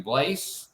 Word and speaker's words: Blaise: Uh, how do I pronounce your last name? Blaze. Yeah, Blaze. Blaze.